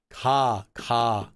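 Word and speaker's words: ㄱ: And it is not a G and it's not a K. So, ka. What letter does it sound like? It actually sounds like a K. It doesn't sound like a G ever. It's not ga, because G in English, we have that g sound we add.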